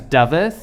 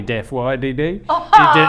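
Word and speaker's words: Dafydd: teacher from school who couldn't pronounce my name properly. My full name's David, D-A-F-Y-D-D. He could not pronounce it properly, so he just called me Daff Y-D-D.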